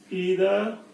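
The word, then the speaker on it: either: Distributive में each, ईदर और नीदर, इसको आप आइदर और नाइदर भी प्रोनाउंस कर सकते हैं, करते हैं, दोनों एक्सेप्टेड है।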